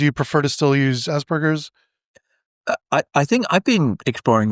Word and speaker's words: Asperger: Viennese, and it's a hard G. It's a G rather than J.